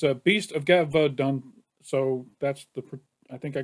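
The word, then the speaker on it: Gévaudan: I think I've been saying it wrong. It's Gevaudan, not Gevaudan. It's Gevaudan. right, so far I've heard 2 songs.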